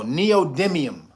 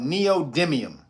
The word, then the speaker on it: neodymium: No, neodymium. It's called neodymium. You spell it.